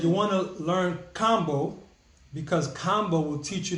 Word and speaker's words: Kambo: Is it Kambo or Combo? All right, so I would say it's Kambo, because other countries, they don't really pronounce A's with the long A. It's like Kambo.